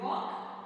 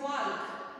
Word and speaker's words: walk: See, here, See, okay, L is silent and not pronounced, okay, in this, okay, in chop and walk and should and could. Okay, we can't say chal, we can't pronounce it walk, we can't pronounce it